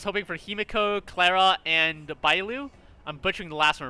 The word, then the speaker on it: Bailu: Something I've noticed about the companion quests is that I was hoping for Himiko, Clara, and Bailu. I'm butchering the last one, I forget her name. Bailu. It's spelled Bravo India Alpha Lima Uniform is how you spell her name.